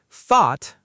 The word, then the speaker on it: thought: Thought, pronounced like thaw.